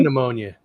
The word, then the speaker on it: pneumonia: pea pneumonia. Pea pneumonia. Hey, Lauren. Pneumonia. It's like one of those funny things about the English language, those silent letters.